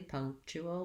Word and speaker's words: punctual: he's very punctual punctual this chew all gets so fast punctual that it almost might become just a ch and a dark um syllabic l punch probably easier to say it correctly punctual with all of the different sounds because there's a lot